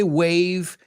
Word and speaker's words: waive: To waive es decir, renuncio esto Y este wave se escribe, se pronuncia igual que saludar con la mano, pero es W-A-I-V-E, right?